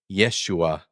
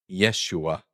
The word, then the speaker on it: Yeshua: Like a y, a very slight e sound.